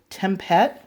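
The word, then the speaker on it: Tempête: I'm sorry this is the Delvaux tempat I believe is how you pronounce it in the mm sighs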